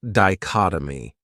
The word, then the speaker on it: dichotomy: Another great noun is dichotomy. This word has four syllables and the stress is on that second syllable. Dichotomy. That third syllable has that schwa, that uh sound.